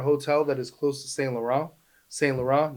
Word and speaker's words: Saint Laurent: spelled Laurent, but that's not how they say it. It's Saint Laurent.